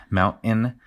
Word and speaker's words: mountain: Like the pronunciation of the mountain with a uh, what what we call a glottle stop where you make the T with your throat mountain.